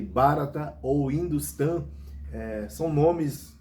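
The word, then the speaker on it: Bharat: hindustão e pode ouvir barata né ou Como se pronuncia mais intimamente barat né mas o barata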